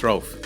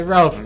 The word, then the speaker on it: Rouf: Am I pronouncing it correct? It's Rouf. Yeah, Rouf.